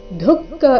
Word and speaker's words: ದುಃಖಂ: ದುಃಖಂ ಯದಿವಾ ದುಃಖಂ ಇಲ್ಲಿ ದುಃಖ ಇಲ್ಲ ಏನಿದೆ ದುಃಖ ದುಃಖ ಮೊದಲು ದು ಅಲ್ಪಪ್ರಾಣ ನಂತರ ಖ ಮಹಾಪ್ರಾಣ ದುಃಖಂ ಸಯೋಗಿ ಪರಮೋ ಮತತಃ ಯೋಗಿ